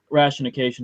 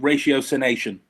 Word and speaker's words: ratiocination: I have Sherlockian rationication, of course. Is that the right pronunciation? I've never heard it pronounced, but to me, I call it ratiocination.